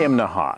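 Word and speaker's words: Imnaha: this morning we're in imaha now that's three syllables in Thea you have to say it that way or people in town will laugh at you right behind me that's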